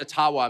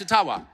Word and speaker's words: Ottawa: Ojibwa First Nations leader who said, actually, it's called Ottawa. And they've been mispronouncing it all these years. I'm not making that up. And if you have any Ojibwa friends, ask them. It's Ottawa.